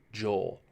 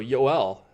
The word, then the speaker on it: Joel: love our Mia it's gol actually it's not Joel and that makes sense right he's not I